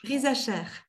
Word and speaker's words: Risacher: Nancy, alors, c'est Rizacher que ça se prononce? Rizacher.